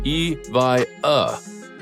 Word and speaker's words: Evija: Our 6th pick, Lotus Evija, which is pronounced Evija, is another supercar that will blow your mind away.